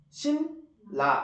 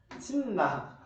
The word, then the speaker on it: 신라: 이거 그대로신 신라 이렇게 발음 되잖아. 신라. 근데 얘들아, 너네가 이걸 빠르게 바르면 어떻게 돼? 그냥 신라.